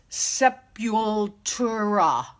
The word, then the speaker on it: Sepultura: It's Sepultura.